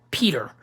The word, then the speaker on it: Pieter: ] Pei Pei ter but you pronounce it Peter and his last name